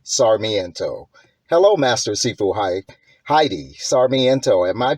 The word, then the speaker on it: Heidi Sarmiento: Masters sifu Heidi sarmiento hello master sifu hi Heidi sarmiento am I pronouncing that correctly yes that is correct okay